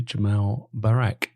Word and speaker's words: Jamal Barak: job downloaded and today I'm going to interview Jamal Barack have I pronounced that correctly yeah correct yep fantastic now